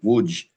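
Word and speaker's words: Łódź: Uh names like should sound very familiar, Zhytomyr, Berlin, Brest-Litovsk, which is Brest, uh Brisk, uh Warsaw, Lodz, pronounced actually Wuj, Kielce, um these names will become, unfortunately, much more well known in World War II.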